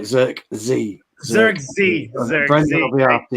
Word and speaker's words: Zirkzee: No Zirkzee. So okay, Bruno is the second. Make sure we say it right. Zirkzee.